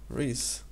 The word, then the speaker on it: Rhys: Rhys. Rhys. Yeah. Seems like it should be pronounced the same way as Rice from League of Legends. Yeah. But it's Rhys, it's the Welsh way of spelling it.